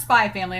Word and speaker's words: Spy x Family: Pau, PAU333 on Patreon was like, it's just pronounced Spy Family, and I was like, okay.